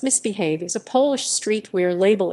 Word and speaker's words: MISBHV: pronounced misbehave is a polish streetwear label established by natalia maksec in 2014.